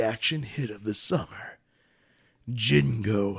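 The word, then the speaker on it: Django: hit of the summer Jingo Unchained the D is silent is this Jin I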